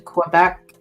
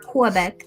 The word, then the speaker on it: Quebec: Oh yeah, I've been to Quebec. Quebec. Not Quebec. A lot of people get that wrong. Quebec. No. The Q and the U are not pronounced.